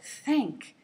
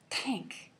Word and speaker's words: thank: So thank, not tank.